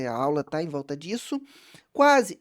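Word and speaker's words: dix: O número isolado dis, tá? Então essa pronúncia com som de s no final dis.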